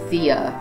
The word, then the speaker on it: Thea: I'll just correct some, if not all, of the mispronounced names. Thea is Thea, Phobos is Phobos, Deimos is Deimos, Metis is